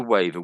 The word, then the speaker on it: waiver: yeah, So it sounds the same, but it's a different meaning.